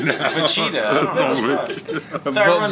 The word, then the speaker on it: Vegeta: But I want you to you had to talk about Majin Vegeta's No, we'll definitely.